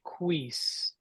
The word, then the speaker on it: quis: say quis yeah good again the qu sound we have that in English so que and all the qu words you see there these are all question words or interrogatives so very familiar sound uh and then just the i s so e so qu so very simple um and